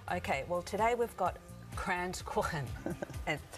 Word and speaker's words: Kranzkuchen: to make today okay well today we've got crayons corn that's how you pronounce it that's right and what it actually